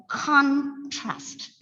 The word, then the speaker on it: contrast: look at the word contrast it's a word with two syllables it's a noun so obviously the first syllable has to be stress it's contrast not contrast of course it can